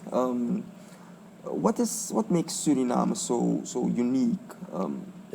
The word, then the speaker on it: Suriname: Um what is what makes Surinam so so unique?